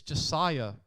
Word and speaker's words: Josiah: a great playmaker and it's Josiah it's not it's Josiah rankins is how you pronounce it sorry parents another slot